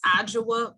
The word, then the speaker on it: Adjoa: i get it right no problem it is ajwa b okay gotcha thank you so